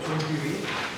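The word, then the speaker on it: John Dewey: 자, 존 듀의 책이 바로, 이거 발음 잘해야 돼, 존 듀이.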